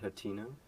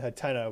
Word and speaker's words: Hateno: Like I said, there's usually two pronunciations. There's Hatino and Hateno, but you say Hatino, so there's three ways to say it, I guess.